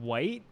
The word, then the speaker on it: Wight: I was right about all of these things, but Wight is spelled W-I-G-H-T, not how you would normally spell white.